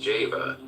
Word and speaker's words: Jehovah: the letter J whence Jehovah should be pronounced Java in this point leads